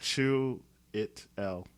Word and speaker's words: Chiwetel Ejiofor: Yeah, I can never pronounce his name properly. It's like Chiwetel. Chiwetel? Yeah, Okay. Chiwetel Ejiofor.